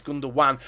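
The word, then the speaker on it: Gündoğan: his name mixed up I do know how to say his name it's gundan as I heard him say it himself but I'm just trying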